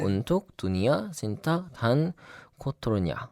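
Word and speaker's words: Untuk Dunia, Cinta, dan Kotornya: 근데 이제 발음이 맞는지는 봤는데 딱 그대로 읽더라고요. 네. 운툭 두니아 신타 단 코토르냐 이렇게 읽는데 무슨 뜻이냐면은 세상과 사랑 그리고 더러운 것을 위해 이런 뜻이에요.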